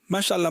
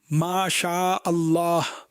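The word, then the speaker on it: ما شاء الله: বিশুদ্ধ কি বলে? মাশাল্লাহ মাশাল্লাহ মাশাল্লাহ, হোয়াট ইজ দিস মাশাল্লাহ মাশাল্লাহ, এটাই করে বর্তমানে। মাশা আল্লাহ শুদ্ধভাবে উচ্চারণ করুন।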